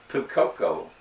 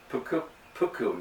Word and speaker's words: puukko: the second knife is a pucoco puku knife and I know I said it wrong the first time a cuckoo knife which